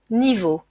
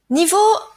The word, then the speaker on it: niveau: assez facile à prononcer hein e a se prononce o niveau niveau ce mot a plusieurs significations nous allons parler